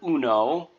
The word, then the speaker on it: uno: So the U is pronounced like oo or two O's in English, just like in the moon, do, who, or you. Oo, and then no, just like you would say no to a request you wanted to deny,